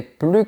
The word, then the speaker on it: plus: complètement changé c'est bien attention à ne pas prononcer la lettre S on va dire plus comme ça je te donne des